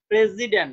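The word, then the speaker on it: president: প্রেসিডেন্ট জি দেখো প্রেসিডেন্ট এস এর উচ্চারণ দেখো মনে রাখবা জেড এস এন্ড এক্স এগুলোর উচ্চারণটা জেড এর মত হবে প্রেসিডেন্ট দেখো উচ্চারণের মধ্যে দেখো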